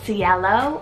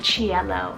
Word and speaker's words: Cielo: the girls side is Cielo or Cielo spelled c-i-e-l-o now this one's either a Spanish word name or it's an Italian rooted name depending on how you're pronouncing it meaning Sky then for